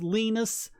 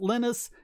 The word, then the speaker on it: Linus: what he said was his name Linus gets pronounced different ways anywhere back home where he's from is pronounced leanness most people in Europe pronounce it Lennis he goes to America and he's called Linus and he says that's fine you can call me by any of those things I will always respond